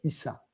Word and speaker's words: Isha: Donc, Isha, le mot Isha veut dire, ça se prononce entre S et Ch, Issa.